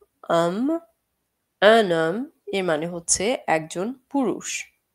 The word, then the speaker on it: homme: Um, সো এখানে আমরা h টা উচ্চারণ করব না। un homme এর মানে হচ্ছে একজন পুরুষ।